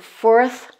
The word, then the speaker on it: fourth: Et attention surtout à bien prononcer le th en mettant votre langue bien sur ici les 2 dents de devant. Donc fourth, fifth, sixth, seventh, etc. On doit bien entendre le th à la fin du chiffre.